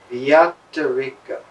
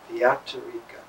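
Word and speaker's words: vyatireka: The word is very difficult to pronounce. Vyatarika. Vyatarika.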